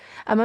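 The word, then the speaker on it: homme: كده حرف كونسون ساكن اما مثلا زي كلمه ام ام يعني رجل فان نطقت الاش نطقت من اول الاو ام يبقى دي كده حرف فوال حرف الاش هنا يتعامل معاه على انه فايال متحرك تمام اتمنى تكون وصلت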